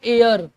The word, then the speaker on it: heir: और ये देखिए HEIR लगता है हेयर लिखा, नहीं, इसको पढ़ते हैं एयर, यानी कि वारिस, है ना।